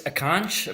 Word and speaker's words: Akanch: say uh yeah well it's akanch but uh a lot of people struggle to pronounce my name so they just go that's easy i get